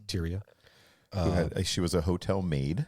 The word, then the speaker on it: Tyria: love of her life tyria Moore is that how you say it tyia y I would call it a t y r i a tyia she was a hotel